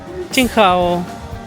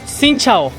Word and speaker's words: Xin chào: Xin hao. Xin hao. Chao. Sí, es Xin chao. Xin chao. Hello. Hello. Xin chao. Xin chao. Ahí me estaban corrigiendo la pronunciación.